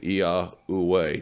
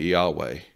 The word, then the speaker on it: Yahweh: That is the Tetragrammaton as it should be pronounced. Some people call it Yahweh. That's a, you know, sort of a different thing where they don't emphasize the last two syllables.